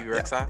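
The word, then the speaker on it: Bebe Rexha: BB, is it BB Rexa? Is that how you say her name? Yeah. BB Rexa.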